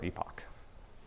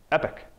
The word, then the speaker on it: epoch: point I restart another epoch. Epic, sorry. Another word that Scott's been helping me with, epic. I really think that epoch is the right way to say that word, but it's not.